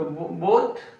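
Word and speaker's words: beau: The both word alphabets are different but pronunciation is same O. So we use E A U like bo B E A U.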